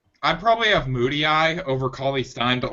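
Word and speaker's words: Mudiay: I just found out apparently that you pronounce his name Moody Eye. Moody. Yeah, it's Moody Eye.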